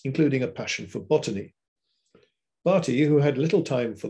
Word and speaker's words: Bertie: Although Satow's immediate point of contact was the Assistant Undersecretary, Francis Bertie, Bartie, I think is the correct pronunciation, even though it's spelt B-E-R-T-I-E, Bartie, Francis Bartie. It was Saunderson, affectionately known